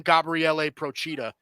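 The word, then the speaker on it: Gabriele Procida: very he's a uh italian guy so you do pronounce his name gabriele prochita um but a very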